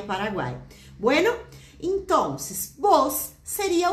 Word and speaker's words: vos: Já escutou falar alguma vez em el uso del vos? Isso mesmo, VOS. Já lembramos aí a pronúncia do V, né? Que tem um leve sonzinho de B.